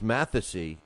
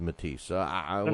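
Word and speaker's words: Matthysse: always the same thing I always called uh Lucas mathy and I was corrected that that's pronounced matisa whatever man I I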